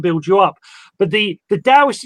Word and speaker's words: Taoist: It's one of my teachers would say it's with a D with a silent or a little T. So it's Taoist. Tao. Okay. Most people, I tend to say Taoist because it's more simpler.